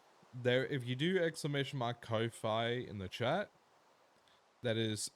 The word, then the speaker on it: Ko-fi: there, if you do !Ko-Fi in the chat, that is a link. If you haven't heard of Ko-Fi, it's like, oh, Ko-Fi. It's like spelled like lo-fi, but it's a K instead of an L.